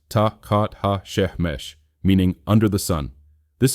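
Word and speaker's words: tachat hashemesh: Tahhat hashamesh pronounced tat ha she meaning under the sun.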